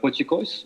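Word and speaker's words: potjiekos: And it's similar to the pochicos, if I pronounce it well. Yeah, you got the pochicos. pronunciation right.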